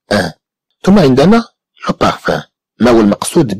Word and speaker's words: parfum: إذا كما تلاحظوا بأن كلمة parfum comprend aussi le son 1 mais qui s'écrit avec UM à la fin des mots.